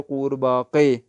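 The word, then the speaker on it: قورباغه: अलिफ गाब है बागे, तो बागे को गैन को का करके पढ़ते हैं फारसी में, इसलिए कूर बाके लिखा जाएगा, काफ वाव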